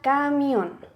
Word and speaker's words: camión: La palabra camión. Aquí podemos poner acento en on porque tenemos la vocal y tenemos una N. Por lo tanto, se acentúa y tiene el golpe de voz camión en la O y